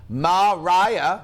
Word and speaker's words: Maria: Oh, Maria Mitchell, pronounced Mariah.